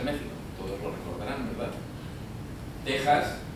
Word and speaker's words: México: con lo cual con esta regla de la Real Academia Española México con x pasa a llamarse México todos lo recordarán verdad